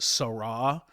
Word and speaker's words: Sarah: That is Cardinal Robert Sarah or it is pronounced Sarra.